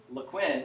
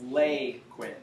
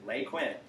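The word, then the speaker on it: Laquin: I'll teach it again the proper pronunciation of that town is not lequint it's Leigh Quinn Lake win so I'm telling it to you're right from the Bradford County locals lake win it was two names put together there was mr.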